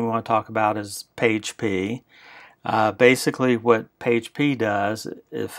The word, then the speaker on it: PAgP: This is pronounced PAGE-P, or using Link Aggregate Control Protocol, which is LACP.